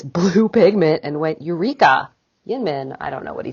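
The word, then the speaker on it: YInMn: story though so um have you heard of yin min blue gin min blue no so it's spelled y-l-n-m-n that's a that's an acronym for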